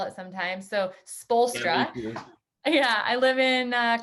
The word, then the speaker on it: Spoelstra: still have to like think about how to spell it sometimes so spolstra yeah i live in uh coeur d'alene idaho